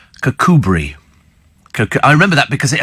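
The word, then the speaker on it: Kirkcudbright: uh cbright in dump free and Galloway is pronounced cbri I remember that because it appeared on a Victoria Woods sketch and he said over in kabite and she said it's actually pronounced cbri and somebody said but she wouldn't know that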